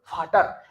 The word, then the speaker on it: Vater: इसने, इसको फाउआ नहीं कर देंगे हम लोग, फाटर.